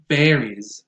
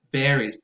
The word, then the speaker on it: varies: This one varies, varies. Think about the word vary as in very much and then add an S or a Z sound at the end. So varies. And it's a verb.